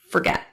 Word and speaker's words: forget: your Xanax this morning forget has stress on the second syllable get so the vowel in the first syllable is reduced to awah sounding like f instead of for forget did you forget to